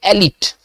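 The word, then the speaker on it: elite: देखिए, एक word एलिट, इसको उसका उच्चारण कैसे करेंगे? इसका उच्चारण करेंगे एलिट।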